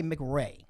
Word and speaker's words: McRae: I always feel like I want to say McRae.